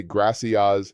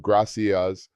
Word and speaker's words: gracias: I cringe every time I hear an American ask for quesadillas instead of quesadillas or say gracias instead of gracias.